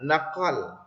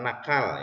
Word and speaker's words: naqal: Nah, sedangkan yang berikutnya adalah naqal ya. Bukan nakal ya, naqal.